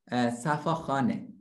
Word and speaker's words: Safakhaneh: Safakhaneh. Can you pronounce Safakhaneh?